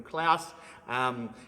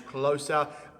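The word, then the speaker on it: Klose: I called him Klaus. His name is Closer.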